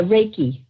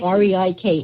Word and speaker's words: Reiki: talk about what exactly and how do you pronounce it wrecking wrecking well yeah a lot of people call it ray yeah reiki right reiki right reiki yes what exactly is wrecking right